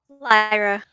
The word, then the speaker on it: Lyra: misses lyra you're up lyra how did we decide we pronounced that not like the coin right lyra okay i'll remember someday